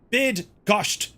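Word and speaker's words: Bydgoszcz: place right and uh by gsh or bid gosh bid gsh it's pronounced right try that now 10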